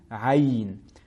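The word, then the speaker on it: عين: Comme vous pouvez le constater, il se lit ayn.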